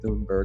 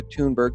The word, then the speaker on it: Thunberg: I'm told now that's the way to pronounce her name, not Thunberg, but Greta Thunberg, the 16-year-old who had